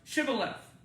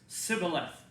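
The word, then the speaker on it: shibboleth: the dialect of ephraim had trouble pronouncing the sound do it again they couldn't do that so when they said it came out all right so they'd ask all the people who came to the river crossing to pronounce shiva left so can you say chevrolet guess what the ephraim knights couldn't say it all they could say was sibilif that's the way they could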